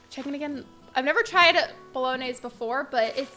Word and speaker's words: Bolognese: pasta noodles in the picture hold it it's pronounced like Bolognese gotcha okay is it just like a fancy